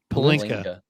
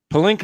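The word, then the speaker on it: Pelinka: then Rob Pinsky how do you say it palinka palinka I've got pin Pinsky in my mind and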